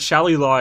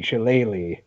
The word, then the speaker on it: shillelagh: the accurate one she later is that right Shelly law is an incorrect pronunciation that a show did into it like